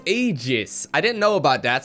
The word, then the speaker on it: Aegis: So it's pronounced Aegis.